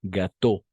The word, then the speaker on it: gâteau: Elle fait de bons gâteaux, igual, bon gâteau. Las S al final no se pronuncian ni menos la E, ¿d'accord? Son mudas, incluso la X, ¿no? Todo esto, por ejemplo, va a ser gâteau, ¿d'accord?